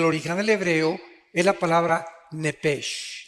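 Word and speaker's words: נפש: Digo, por favor, esta palabra alma en el original hebreo es la palabra nepesh. Apúntala, como suena nepesh, con SH. Se pronuncia nepej.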